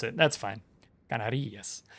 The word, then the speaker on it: Canarias: Canarias. Well, in Spanish, typically you put the accent, unless otherwise accented, you put the accent on the second to last syllable.